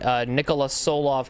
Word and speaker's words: Nikola Tsolov: So I did find out that I was pronouncing Nikola Tsolov correctly.